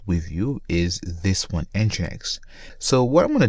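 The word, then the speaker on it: NGINX: like that so I always get this uh name wrong so engine X is simply a web server them a reverse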